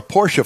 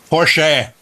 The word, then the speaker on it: Porsche: I met him said Porche Porche oh Porche he's Austrian and that's how they pronounce that final e it's sort of like